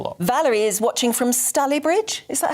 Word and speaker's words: Stalybridge: Valerie is watching from Stalybridge.